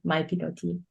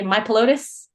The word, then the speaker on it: mypilotis: So turned it to mypilotis. A lot of people mispronounce it. They say mypilotis, which I just like.